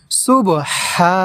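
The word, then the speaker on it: سبحانك: প্রিয় দর্শক, এখানে আমরা সুবহানাকা, এখানে আমরা এই হা এই জায়গা আমরা টেনে পড়ব এইভাবে, সুবহানাকা।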